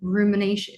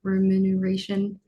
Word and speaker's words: remuneration: Rumination. Donovan, can you say that? Remuneration. Remuneration. Anyway, thank you. I can never pronounce that word correctly.